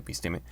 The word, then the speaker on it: episteme: muy raras, pero bueno, vamos a llamarle episteme, porque así se supone que se pronuncia, ¿no?